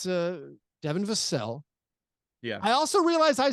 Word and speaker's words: Vassell: Vassell. It's not lords and vassals and serfs. No, it's Devin Vassell.